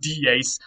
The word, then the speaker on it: dies: It looks like the English word dies, but that's not what it is, and that's not how it's pronounced. It was pronounced dies.